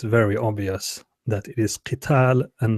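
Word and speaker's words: قتال: So if you say kutiba alaykumul al-qatl, that But not would kitulu? No, you don't pronounce it that way. Qital.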